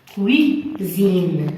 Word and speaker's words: cuisine: Regardez, par exemple, cuisine. Regardez, I, entre deux voyelles, V et V. S ici se prononce Z.